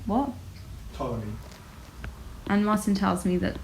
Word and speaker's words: Ptolemy: geocentric model was correct, Ptolemy, what? Ptolemy. And Martin tells me that Ptolemy I can't say it is the guy responsible. Is that a silent P right there?